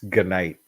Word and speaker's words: G-Night: I feel like he corrected Eckel's pronunciation, and so now he's got it right. It's G-Night.